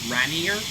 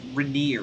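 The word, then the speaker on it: Rainier: like some people who don't know how to pronounce it call it Mount Ranier or reer Ranier I think is how they pronounce it and that's just like totally incorrect like that's like it's pronounced reneer all right all right okay coming out over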